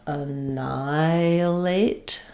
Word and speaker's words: annihilate: So we have annihilate. So this is an example where we don't really say annihilate. We don't say the h windy sound for the h.